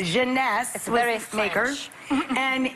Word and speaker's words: Jeunesse: called instantly eight ageless what's the company honey pronounce the Jeunesse Jeunesse various makers and it's less than $75 retail